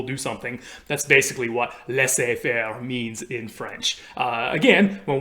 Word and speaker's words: laissez-faire: And that is, the way that we pronounce this in English, at least today, is laissez faire.